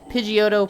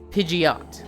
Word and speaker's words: Pidgeot: Why would you not take that same pronunciation into the third form? Pidgeot. Pidgeot. Um, and I was like, no, it's Pidgeot.